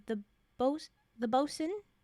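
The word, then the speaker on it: boatswain: says the both the bosen boat swin I'm pretty sure it's pronounced BOS uh Ralph rackstraw enters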